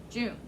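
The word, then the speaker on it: Joong: O-O always sounds like ooh when we're looking at a pronunciation key. So how would you say J-O-O-N-G? J-O-O-N-G. Can't hear you. But would you put, is there two syllables there? That's just one. So you wouldn't say J-O-O-N because that's two syllables. So just June.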